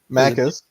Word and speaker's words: Maccas: I've noticed with Australia and New Zealand as far as like some of the shortened phrases like Mackers. Am I pronouncing that right? Maccas.